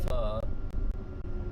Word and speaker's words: pho: Alright, now there was PHO, which is pronounced pho, and then the word king.